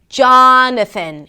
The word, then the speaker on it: Jonathan: So, Jonathan: it starts with a 'j' sound, that the 'aa' as in father - 'jaa'.